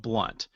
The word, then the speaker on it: Blount: And just for the record, my last name is spelled blunt.